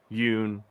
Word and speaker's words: Yun: have heard of me Yun rhymes with moon um I perform with